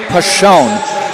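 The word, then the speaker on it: Persson: And if you look at her name on print, it looks like Person. It is pronounced Pashon.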